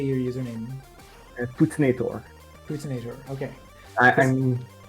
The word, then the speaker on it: Poutinator: Poutinator. Okay. This- I'm my native language is French, so pronounce the French one.